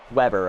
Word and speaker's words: Weber: Weber. Okay, so they pronounce it with double B's.